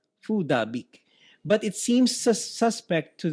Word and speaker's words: Phuc Dat Bich: about Facebook consistently apparently bitch's name is correctly pronounced fool da beak food a beak but it seems suspect to the uninitiated apparently